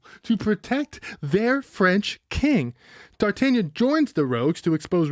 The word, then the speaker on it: D'Artagnan: D'Artagnan. That's how you say it in French.